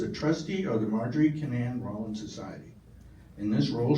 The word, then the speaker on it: Kinnan: So, growing up, I always pronounced it can. But it's Cananan.